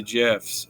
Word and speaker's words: GIF: you could do Pizza gifs and now alright boom let's put this one in here give it a second and then you'll have yourself gif or Jif however you want to say it right in your presentation